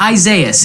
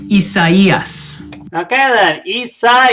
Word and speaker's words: Isaias: within the next couple of days it's not isaias it's pronounced isaias yes um yeah so here are the warnings